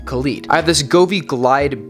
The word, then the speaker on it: Khalid: I get a lot of comments from people saying I'm pronouncing Khalid wrong. I'm not. I think that when I say Khalid, y'all think I'm talking about like DJ Khaled. This is a completely different artist, and that's how you pronounce his name, Khalid.